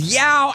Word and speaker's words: Yao: Now I got cow rhyming with Yao.